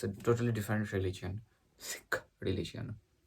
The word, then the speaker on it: Sikh: Sikh religion. Sikh religion, not Sikh religion, it's Sikh religion. You need to pronounce it correctly.